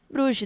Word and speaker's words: Bruges: Clube Bruges, acho que é assim que se pronuncia, Bruges, da Bélgica, no Santiago Bernabéu.